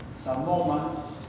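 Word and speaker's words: psamoma: y con inclusión aparte además cuerpos de samom se escribe con p como psiqui como psic estas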